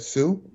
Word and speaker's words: Hsu: news douglas shu hsu do you pronounce that sue uh yes that's correct you did well who chairs the type